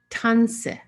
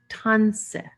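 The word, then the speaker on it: tânisi: Okay, so here's how you say hello in Cree, and it's pronounced tanse, tanse.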